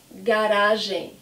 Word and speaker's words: garagem: Garagem. It's a great word because you can see the hard G of ga and then the soft G of gen.